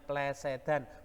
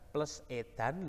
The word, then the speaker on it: plesetan: cangkriman blenderan utawa Plesedan ingat bacanya Plesedan bukan plus edan Lo cangkriman plesetan secara